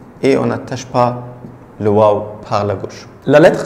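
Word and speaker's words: واو: Et la lettre suivante, c'est le waw. Waw. Waw. C'est comme 9. Waw. Et la prononciation, c'est ou. Ou. La prononciation, c'est comme ou.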